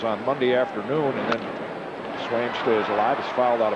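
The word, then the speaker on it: Sveum: And Swaim, S-V-U-E-M, it's 1-1 now, is Norwegian. Pronounced Swaim.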